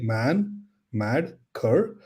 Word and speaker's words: Manmadkar: man mad C so I have nine characters in my last name I split them into three becomes easy man mad C uh nice man